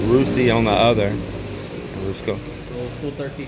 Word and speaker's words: Rusi: is and this is okay rusy so that's how you say it rusy on the other 23